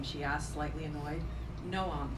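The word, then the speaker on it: Noam: she asked slightly annoyed no um spelled an O am but pronounced as two syllables it's nice what does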